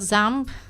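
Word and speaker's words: XAMPP: You always pronounce it ZAMP. Yes, that is the way.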